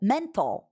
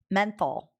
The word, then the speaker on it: menthol: Mental. How do you say mental? Menthol. Oh, is it menthol? Is that it?